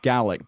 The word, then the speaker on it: Gaelic: In Scotland, that word is pronounced Gaelic because it's referring to the language of Gun Ghaol, the language that was spoken in Scotland and is spoken in Scotland, which is Gaelic.